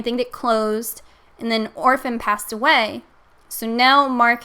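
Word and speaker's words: Orfn: art in general, you may know the artist Orphan. It's spelled O-R-F-N.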